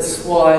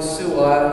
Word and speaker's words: Suai: Now, where this is a town down south, which I'm not sure if you pronounce it Swai or Suai, I hear it pronounced both ways.